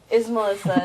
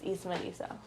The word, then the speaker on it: Ismelisa: like, Ismelisa, and I'm like, okay, yeah, sure, Ismelisa. And it wasn't until like maybe a couple years back, I'm like, no, it's Ismelisa.